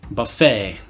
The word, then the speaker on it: buffet: Buffet. So this is in the same tradition as many French words that end with ET, like ballet, bouquet, gourmet.